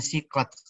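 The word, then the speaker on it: سيقت: Nanti dibacanya siqat dari saqo, ya suku, artinya mengarahkan, ya, menyetir.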